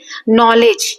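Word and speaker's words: knowledge: नॉलेज यहां के है लेकिन हम बोल ही नहीं रहे के को।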